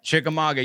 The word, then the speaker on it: Chickamauga: The oldest house in Chickamauga. Is that how you say it? Chickamauga, yeah.